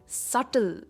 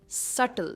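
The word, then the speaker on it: subtle: इसके बाद है सल। इसमें भी बी साइलेंट है। इट इज सटल।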